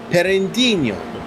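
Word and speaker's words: Pinheirinho: For turn number 9, Soup, that would be Perendinho.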